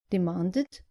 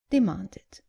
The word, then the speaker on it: demanded: The less common mistake is not pronouncing the id clearly at the end of verbs ending in t or d. Just make sure you pronounce the e clearly. So, not invited, but invited. And not demanded, but demanded.